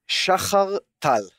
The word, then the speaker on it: Shachar Tal: My name is, and I'm going to use the Hebrew pronunciation, Shachar Tal.